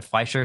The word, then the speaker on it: Fleischer: So we get an amazing intro, which is a wonderful callback to, how do we pronounce it? The Fleischer Superman? Fleischer, yeah.